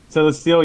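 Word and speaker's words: Celesteela: Canon the otakoto family or was it Celestial celestial yeah yeah that's how it's pronounced it's like steel flying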